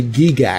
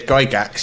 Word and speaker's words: Gygax: been that crew there they say gee gasps well very incorrect because he said Gygax let's you know how